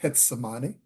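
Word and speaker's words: Getsemaní: And it was late, and we were in it's spelled Gethsemane, but they pronounce it Getsemane, which is the walled city in Cartagena.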